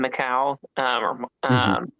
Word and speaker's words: Michal: There's some moving the plot, like Jonathan tells, how do we pronounce her name? Michal, like Saul's plan.